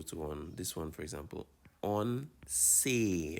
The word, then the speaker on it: once: On say. Remember, the E has an A sound, so on say.